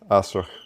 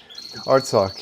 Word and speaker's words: Artsakh: And so when you speak about, and I'm going to say it wrong, Asrakh, is that close? Nagorno-Karabakh, the Republic. Artsakh, yeah.